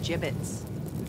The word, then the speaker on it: gibbets: here dead end hey look avery had some gibbots left over gibbets what it's pronounced gibbets are you sure yeah well no one likes